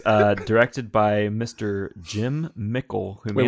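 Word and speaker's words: Mickle: with Michael Parks um pickle was his last name mckel mckel sorry spelled like pickle but with an M okay um ravenous from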